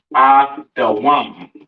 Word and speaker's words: Edom: Edom in the Hebrew pronounced Adawam. All right.